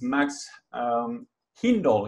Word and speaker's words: Hindle: Hi everyone, I'm Emmerich, the founder of WeekPlan, and today I'm going to speak with Max Hindle. Is that, do I pronounce it yeah, well?